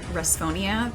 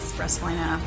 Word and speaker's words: Resphoina: But the other thing is that most people, understandably, pronounce it Responia because, like, it doesn't seem like Respoina isn't exactly natural to say, but it's Respoina, or you can just call me Res.